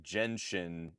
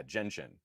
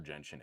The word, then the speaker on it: Genshin: So yeah, um from H uh from Hikari, hey Juan, this might sound pedantic, but it is pronounced Jenshin. J as in jet genshin impact.